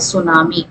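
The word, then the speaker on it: tsunami: सवाल नंबर 29 देखेंगे, ये जो शब्द है सुनामी, इसमें इंग्लिश में पढ़ेंगे तो इसमें टी साइलेंट होता है।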